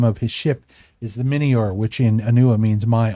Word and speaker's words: Mynnior: he uh well he says welcome to the minor and that's the name of his ship is the minor which in anua means my honor m y